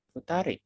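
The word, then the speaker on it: 二人: Bacanya futari. Bukan futanid. Futari. Oke.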